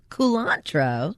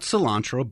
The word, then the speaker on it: culantro: and that is culantro culantro exactly not cilantro but culantro how do you spell